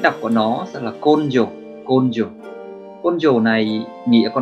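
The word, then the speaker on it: 根性: Cách đọc của nó sẽ là côn dồ.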